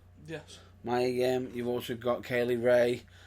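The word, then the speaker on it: Mia Yim: Is it did I pronounce it correct? Yes. Maya Yim.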